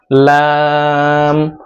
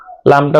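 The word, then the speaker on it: لام: তারপর হরফের নাম হলো লাম। লামটা উচ্চারণ করতে হবে জিহ্বার আগার কিনারা উপরে মাড়ির দাঁতের সাথে লাগিয়ে তারপর উচ্চারণ করতে হবে। লাম লাম। লামটা উচ্চারণ করার সময় মুখটা একটু ফাঁকা রাখবেন।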